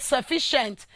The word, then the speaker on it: sufficient: And that is why in the word sufficient, it is the fee that is what? Stress.